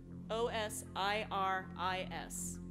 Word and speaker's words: Osiris: name before we go sorry how do you spell that o o s i r i s I wasn't listening sorry oh o o s